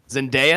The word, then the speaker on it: Zendaya: i was not saying it right then yeah zendaya what was i saying zendaya yeah you're saying it was an eye and there's no eye in her name ah zendaya gotcha gotcha um that's gonna be more of